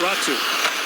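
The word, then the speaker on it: Räty: and then again as he runs into coconut ratsu back with it you may notice how it's spelled r-a-t-y in finnish it's pronounced ratsu and they've asked us to say it that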